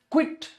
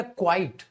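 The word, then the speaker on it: quite: क्विट या क्वाइट, सर क्विट नहीं होगा, हमने कहा था ना क्विट तो किसी चीज को बंद करना होता है, वहां क्वाइट होता है बेटा, ये इसकी स्पेलिंग पे देता ही देता है एरर, क्वाइट होता है, क्विट नहीं होता है।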